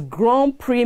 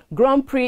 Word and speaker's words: Grand Prix: Grand Prix is spelled G-R-A-N-D space P-I-R-X. So please note, the pronunciation is Grand Prix, not Grand Prix.